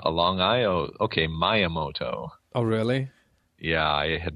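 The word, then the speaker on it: Miyamoto: okay go for it I said myoto myamoto yeah I never got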